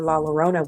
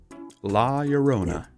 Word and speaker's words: La Llorona: But if I'm not mistaken, everybody pronounces it with the L.